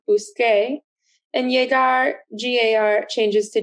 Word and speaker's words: busqué: So as you can see with buscar and llegar, car, buscar, changes to QUE to keep that hard k sound, busque, and llegar, GAR, changes to GUE to keep that hard G sound, gay, llegué.